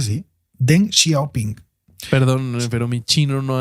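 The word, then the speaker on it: Deng Xiaoping: eh con den shoping xia ping sí se pronuncia así den xiaoping perdón pero mi chino No anda muy fluido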